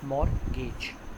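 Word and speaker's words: mortgage: मैंने आपको पहले भी बताया था, टी is silent, it's pronounce as मॉर्गेज bonds.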